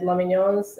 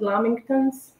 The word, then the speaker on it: lamingtons: Am I saying it wrong? Is it lamingtons? Did I say lamignons or lamingtons? I think it's lamingtons, sorry.